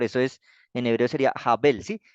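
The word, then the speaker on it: הבל: Sí entonces Recuerden que esta letra es la h o la J cuando está al principio como está de primeras en la derecha Entonces se pronuncia como una j y miren que la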